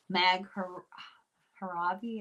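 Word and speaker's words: Nag Hammadi: She did the book The Gnostic Gospels about Mag Haravi, I think is how you say it.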